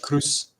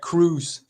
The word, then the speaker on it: Croes: well actually actually my my last name is is pronounced as Cruz oh okay more like Cruz you know yeah like like Tom Cruz yeah cool yeah yeah